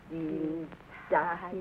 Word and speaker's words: Dienstag: That is good, but pronounce the words broader, so Sonntag, Montag, Dienstag, yes?